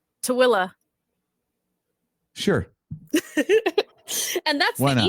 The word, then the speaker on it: Tooele: Figure out how this one's pronounced. T as in Tom, Oole. Toel. What about you, AJ? Something similar. Kale's got it. Tuel? Tooele.